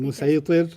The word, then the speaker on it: مسيطر: Musaytir. Yeah. And he says, you said musaytir. And he says, Yeah. no, it's sad, but it's pronounced sin.